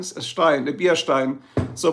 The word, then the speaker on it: Stein: Stein s e i n Stein a beer stein so pronounce it right Stein is the pronunciation okay